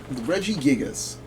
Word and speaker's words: Regigigas: Regigigas.